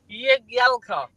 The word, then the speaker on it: Jagielka: It's pronounced Jagielka.